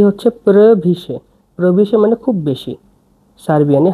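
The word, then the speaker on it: previše: প্রভিশে।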